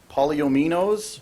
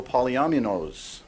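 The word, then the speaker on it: polyominoes: I've looked this word up twice, and it's pronounced two different ways. I'll give you both of them. Polyominos, also polyaminos, believe it or not.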